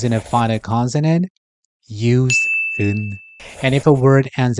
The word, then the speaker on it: 은: So instead, we use 은, which doesn't block the airflow.